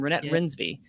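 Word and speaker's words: Renate Reinsve: duh uh uh uh renee i believe pronounced her name rynette rinsby yeah get into that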